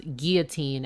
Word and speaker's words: guillotine: cuz I also pronounce guillotine as Guillotine I don't say Guillotine even though if you say Guillotine people know what you mean but in French two L's are sometimes just pronounced as why so so the thing